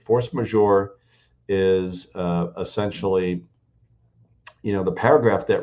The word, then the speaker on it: force majeure: Or and usually misspell it and say force major, right? Like it's force and then it's Majeure.